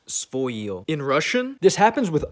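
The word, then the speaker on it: своё: It's written as svoye, but it's actually pronounced svoyo.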